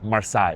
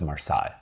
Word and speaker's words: Marseille: We're going from Charles de Gaulle to Marseille. Editing Geo here. It's Marseille, France, right? I always thought it was Marseille, but I got corrected when I was there.